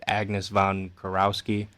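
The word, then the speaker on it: Agnes von Kurowsky: I'm probably going to pronounce her name wrong, but Agnes von Kurowski.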